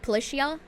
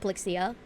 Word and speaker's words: Polixia: Oh, it's not pronounced like ch, like Policia, like that. It's pronounced Polixia.